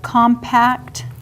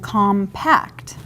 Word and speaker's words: compact: And usually, you would put the emphasis on the syllables differently, like compact and compact.